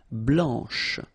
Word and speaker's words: blanche: final C, and then blanche. Okay, remember when you combine this CH, you get the sound sh, blanche.